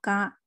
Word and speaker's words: か: 口语当中的形式可以读作嘎，而且一